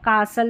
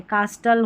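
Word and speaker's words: castle: इसमें T silent रहता है। जैसे यहां पर कासल या कैसल विसल तो सल करके पढ़ना है। यहां पर उच्चारण नहीं किया लिखा गया है। कासल और विसल यानी सल शल भी नहीं होगा। सल करके उच्चारण होगा। और टी यहां पर क्या है? साइलेंट है। कास्टल होता नहीं तो विस्टल होता तो टी साइलेंट है।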